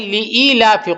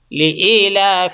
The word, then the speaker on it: لإيلاف: ہمارے سامنے آتے ہیں۔ تو یہ ہے لإیلاف قریش، اس کو صحیح سے دیکھیں، لإیلاف۔ اب ہمارے بھائی بہت سے کیسا پڑھتے ہیں؟ لإیلاف پڑھتے ہیں۔ کیسے؟ لإیلاف، اور اس میں تلفظ بھی بہت غلط کرتے ہیں۔ تو لإیلاف نہیں